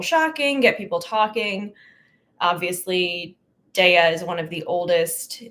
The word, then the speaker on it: Daiya: I know it's technically pronounced Daiya. It's one of those things that I like saying Daiya.